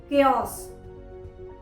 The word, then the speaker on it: chaos: जैसे पहले हम एग्जाम्पल देखते हैं जहाँ पर H लेटर C के बाद आया है, जैसे chaos, chaos, CHAOS, chaos।